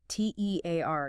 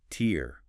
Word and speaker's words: tear: T E A R gives us tear rhyming with here or fear. That's the noun, the drop of water from your eye when you cry. versus tear rhyming with hair or bear. That's the verb meaning to rip something like paper.